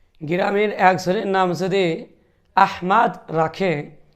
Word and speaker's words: আহমাদ: বলেন অথবা আহমদ বলেন উভয়টাই ভুল শব্দ উভয়টা উচ্চারণ সঠিক হচ্ছে না বরং সঠিক আরবিতে যে শব্দ উচ্চারণ সেটা হলো আহমাদ আহমাদ তবে বাংলা ভাষা হিসেবে সর্বোচ্চ আহমদ এটা বলা যেতে পারে আহমদ তবে আহমেদ আহাম্মেদ আহাম্মদ